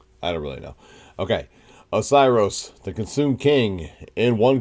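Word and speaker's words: Oceiros: So, the Twisted Tale of Osiris, pronounced correctly this time.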